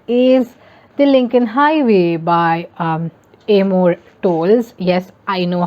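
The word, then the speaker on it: Amor Towles: for me that is the lincoln highway by amor tolls yes i know how to pronounce his name now um again i've covered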